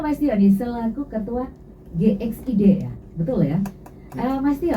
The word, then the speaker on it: GXID: Jadi kalau ditanya GXID apa, bacanya GXID ya Mbak. Oh, GXID, weh. GXID. Pokoknya Inggris punya ya, jangan baca menurut versi Indonesia ya.